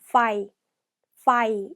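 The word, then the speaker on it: ไฟ: fire 이렇게 발음합니다.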